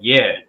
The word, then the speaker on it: Yea: Yeah, ye took up the tabernacle of Moloch. Right, it's pronounced yay. Okay, read it again.